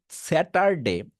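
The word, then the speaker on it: Saturday: লিখে নিবেন টি যদি দুটো ভাওয়েলের মাঝখানে থাকে আই মিন ভাওয়েল সাউন্ডের মাঝখানে থাকে টি টাকে আমরা ডি করতে পারবো ডি এ বি সি ডি আবার বলি দুটো ভাওয়েলের মাঝখানে টি আছে সেটাকে ডি করতে পারবো সো এই স্যাটারডে আমি একটু আগে উচ্চারণ করলাম স্যাটারডে এইটাকে এখন টি না বলে ডি বলতে হবে জাস্ট এইটুকু করবেন দেখুন কেমন লাগে স্যা ডার এখন আমি টার না বলে বলতেছি ডার স্যা ডার মানে টি টা এখন ডি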